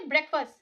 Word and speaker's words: breakfast: Then I went to breakfast को कैसे pronounce करते हैं? breakfast. FUSS की तरह इसको pronounce करना है. breakfast.